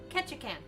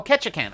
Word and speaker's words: Ketchikan: Alaska okay you come over and do a pronunciation for me that I want to say it right Ketchikan Ketchikan oh Ketchikan okay okay interesting we we could we could